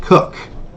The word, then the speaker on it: Koch: The creator of those games is pronounced K-O-C-H, but that's pronounced Cook.